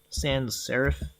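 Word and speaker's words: sans-serif: Oh, I think I was pronouncing it wrong. Sans serif is how it's pronounced.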